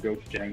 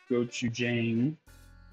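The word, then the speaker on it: 고추장: Then I add, just a second, the rice, kimchi juice, water, and gochujang, which said 2 to 3 tablespoons.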